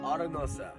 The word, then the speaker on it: Arenosa: And what's the correct pronunciation of this campground? So this place is called Arenosa. Arenosa.